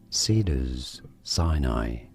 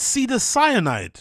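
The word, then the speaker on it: Cedars-Sinai: We are looking at how to pronounce the name of this hospital in Los Angeles, California. How do you say it? Cedars Sinai.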